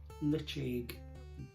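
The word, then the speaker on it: Ledaig: the name there okay now different ways to pronounce but majority of people call that litig litch egg not how it's spell and that's peter um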